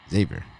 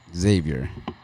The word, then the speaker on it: Xavier: Xavier with the Z. Xavier. Xavier.